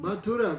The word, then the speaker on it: Mathura: That is Mathura. Там есть Мадхура. What? How you spell that? Как ты произносишь Mathura. Мадхура? Mathura.